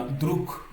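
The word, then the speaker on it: друг: Ici pour le 3è mot, on a druk, vous voyez que le mot druk se termine par un gonciation, il se lit que tout simplement parce que le g s'est assourdi en cas et le camp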